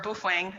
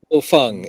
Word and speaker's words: Baofeng: Bofeng is the pronunciation. We just did a small segment of that on Workbench. Bofeng. Although some of us call it potato fang.